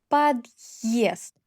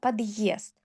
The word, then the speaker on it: подъезд: Подъезд. Е plus э. Подъезд.